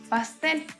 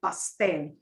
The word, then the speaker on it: pastel: And she's talking about putting white into some of these basic colors, gets us into the pastel. Pastel colors, we use the same term, we just pronounce it differently.